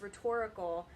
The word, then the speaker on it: rhetoric: started with talking today about rhetoric and the rhetorical triangle so first of all the word is pronounced rhetoric it's a noun and it's rhetorical when it's an adjective so what is rhetoric